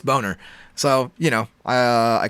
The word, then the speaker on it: Boehner: is bill boner uh that's boner spelled like boehner b-o-e-h-n-e-r but i just have